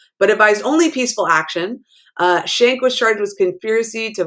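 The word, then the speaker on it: Schenck: first amendment so the the k you pronounce it with a shank it looks like schneck but it's shank versus united states um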